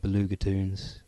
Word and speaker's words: Belugatoons: t double o NS so blue ger as in beluga whale or blue caviar and toons as in short for cartoons it's not actually toons